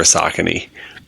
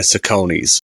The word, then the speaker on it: Saucony: I'm saying Saucony's, it's okay, but like people would say like it's pronounced Saucony, and I'd be like, no, it's Saucony.